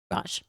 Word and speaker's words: garage: Garage. Right. Caitlin, you want to weigh in on this? Grage. Okay. So Caitlin's right. 2 syllables. She says garage because there are 2 syllables.